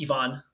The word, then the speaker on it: Ivan: And even though my name is spelled Ivan, it's actually pronounced Ivan.